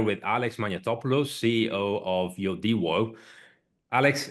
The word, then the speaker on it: Yodiwo: Yeah, first of all, you pronounce the name very well. It's Yodiwo with this Swedish accent because our roots are from Sweden.